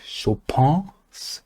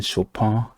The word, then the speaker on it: Chopin: So, one of y'all let me know that I've been pronouncing Chopin incorrect. So, hey, I'm trying to, get the correct pronunciation. I'm doing my best, but it's Chopin.